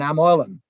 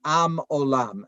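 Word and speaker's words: עם עולם: And that doing that has kept us at what he would call, in his Yiddish, his Ashkenazic pronunciation, he'd say, an am olam, right? An am olam, an eternal people, he would say, right?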